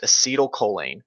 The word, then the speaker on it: acetylcholine: happening it's too little ACH yep acetylcholine it's pronounced acetylcholine when you don't have enough acetylcholine you run into people with you run into